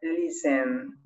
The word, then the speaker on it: listen: le dicen puede ser podemos ver en escrituras que dice el visten verdad visten pero en la pronunciación se obvia la consonante así que sonaría de